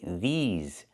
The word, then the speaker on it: these: I have to say these these pants and I use a long e like green beans plus the zz sound like in zebra with a voice vibration z these these pants pants.